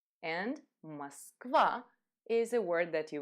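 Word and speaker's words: Москва: another word hmm ah Moskva and as you notice or is not stressed so we're going to simplify pronunciation Moskva and Moskva is a word that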